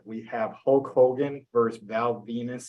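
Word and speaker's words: Val Venis: So first matchup we have, starting with Garrett, we have Hulk Hogan versus Val Venus, spelled like penis.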